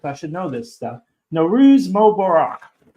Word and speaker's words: Nowruz: For the Persian audience, happy, not happy Nowruz. That's not how you say it. I take notes. I should know this stuff. Nowruz Mubarak.